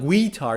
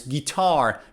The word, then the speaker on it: guitar: or another example is guitar so it's not guitar it's guitar guitar i play the guitar i love listening